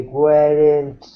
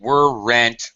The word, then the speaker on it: weren't: You're still pronouncing were rent as if it were two syllables. Uh, it's more like one syllable. They weren't too happy. Weren't without the second e.